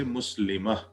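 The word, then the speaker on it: muslimah: i mean you you in reading this is pronounced as ha muslim is added by goltha in writing it will be muslim but in reading we'll say muslima what will we call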